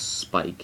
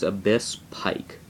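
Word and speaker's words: Abysspike: is after that so if you're going to shorten the name then um don't pronounce the S like this isn't Spike I hear a lot of people call this Spike it's not Spike it's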